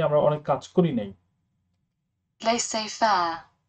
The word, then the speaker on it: Laissez-faire: Laissez-faire. ওদের উচ্চারণে আবার ওদের যে উচ্চারণ সেটা তো আমরা পারবো না। Laissez-faire. লেসি ফেয়ার, আমরা তো লেজিসেস ফেয়ার এটা বলতেই অভ্যস্ত, গোপালগঞ্জ, গোপালগঞ্জ থেকে আছি।